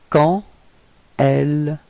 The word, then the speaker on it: quand elle: And here the D would be pronounced a bit more like a T.